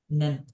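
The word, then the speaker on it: 年: Nen.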